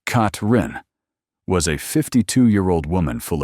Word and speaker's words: Catherine: Hower, often called Catherine, pronounced Katrin, was a 52year-old woman full of energy and determination.